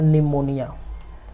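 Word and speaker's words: pneumonia: निमोनिया, ठीक है, न्यूमोनिया। यहाँ पर पी साइलेंट रहता है ना, ठीक है।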